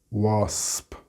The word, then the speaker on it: wasp: So in the singular, this shouldn't be a major problem for you, but you need to make sure to pronounce the P at the end. Crisp, wasp.